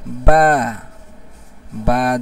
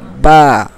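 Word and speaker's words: بَ: ভালো করে উচ্চারণটা আমার সাথে আপনারা ভালো করে উচ্চারণটা সঠিক উচ্চারণটা শেখার চেষ্টা করেন। আলিফ জবর আ বা জবর বা জবর বা তা জবর তা জবর তাছা জবর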